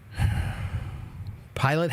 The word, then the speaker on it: pilot: Pilot has different pronunciation. No, it doesn't. Listen to me. The word is pilot. Pilot. Pilot. It's the only present pronunciation of that word.